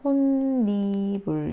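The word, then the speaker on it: 홑이불: 그러면 여기서 발음은요, 니은 때문에 비음화가 일어나서 혼니불 이렇게 발음되겠죠.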